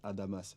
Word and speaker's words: Adamas: commandant Adam Ali donc moi c'est Adamas le S se prononce c'était le le commandant